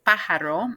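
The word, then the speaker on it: pájaro: is your son-in-law then we have pajaro remember that accent is is pajaro it's really putting the accent on a and then el caballo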